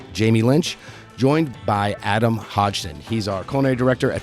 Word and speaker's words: Hodgson: joined here today with Adam Hodgkin Hodgson sorry I butchered that everybody always does that